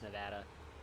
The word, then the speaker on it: Nevada: Actually, it is pronounced Nevada, which fucks me up a lot.